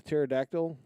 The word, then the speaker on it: pterodactyl: The pterodactyl. Yes. But I was confused because the P is silent.